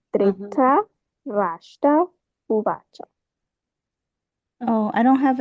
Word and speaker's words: Dhritarashtra: R I T A R A, Dhritarashtra uvacha. Oh, I don't have an I. Okay, yeah. No, it does not appear there, but since it's Sanskrit, that's how you pronounce it.